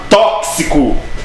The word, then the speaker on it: tóxico: Porque o X tem som de KS. Professor, toda vez que aparecer o X? Não, meu filho. Anota na tua agenda e no teu coração. É só quando ele tiver essa pronúncia de KS. Olha o exemplo da palavra tóxico, né? Tóxico.